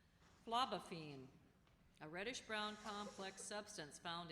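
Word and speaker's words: phlobaphene: Are there any alternate pronunciations? No, there are not. Niveau. N-I-V-E-A-U. Niveau. That is correct. Phlebophene, a reddish-brown complex substance found in oak bark.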